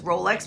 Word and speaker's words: Rolex: The one that stood out to me most was Rolex, because yes, it's pronounced like Rolex, like your watch would be.